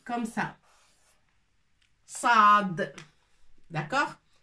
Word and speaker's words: صاد: c'est Assad حرف Assad ça s'écrit comme ça Saad d'accord تنطق ص با س نو ص سي ان